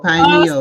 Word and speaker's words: pineal: You got it with the pronunciation. The pineal gland. Yes, pineal.